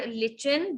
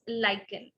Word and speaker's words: lichen: The word is नॉट लिचन, the word is लाइकन। Word लिचन नहीं है जो आपके सामने है, वो वर्ड का प्रोनाउंसिएशन है लाइकन।